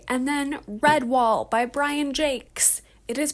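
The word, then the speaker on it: Jacques: We also have coming up on the podcast Rebecca by Daphne du Maurier, and then Redwall by Brian Jakes. It is pronounced Jakes, I know.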